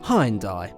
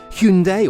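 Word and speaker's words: Hyundai: and by the way in the UK hindai is pronounced hindai not Hundai or Hy or anything else like that anyway the Cosmetic changes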